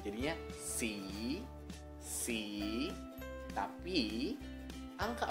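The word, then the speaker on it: สี่: Sehingga kelas tinggi saat dikasih my egg itu akan siang egg. Jadi dibacanya si. Si. Si. Sekali lagi, si. Kalau si tanpa my egg itu artinya warna. Oke? Okay? Jadi ini si. Si. Hati-hati ya, beda nada, beda arti.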